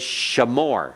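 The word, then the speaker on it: שָׁמוֹר: So this is shamor. Everyone? Shamor. Okay, you have that sh in there. Shamor. The accent's still on the last part.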